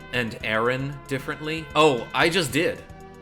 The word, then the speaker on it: Aaron: of dumb I pronounce Aaron Aaron says he has any curly I sort of say it like like it's ever like the air in error and then just in